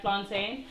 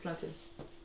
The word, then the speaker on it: plantain: I'm not really a big fan of fried plantain. You say it But- wrong, by the way. I'm just saying. It's plantain. How do you say train?